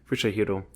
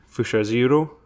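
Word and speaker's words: Fusajiro: And throughout his time, this is Fushajiro. I apologize to any Japanese people. I'm going to butcher all the names. Thank you. Fushahiro.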